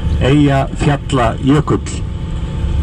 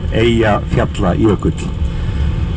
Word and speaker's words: Eyjafjallajökull: name of the volcano, Eyjafjallajökull. And this is a difficult word because there are 2 double L's in it, and there were very strange versions of this word all over the world.